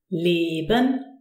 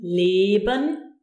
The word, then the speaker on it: Leben: Leben. Geld. Here you can see again the long closed version. Leben is produced by the E followed by a consonant followed by another vowel.